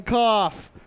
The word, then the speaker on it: cough: I can cough. Cough rhymes with off.